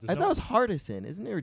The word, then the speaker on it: Hardison: Not Harrison. Harrison. Is it Harrison? No, you said it right. Oh, okay. I think I always thought it was Kadeem Harrison, but it's not. I thought it was Hardison.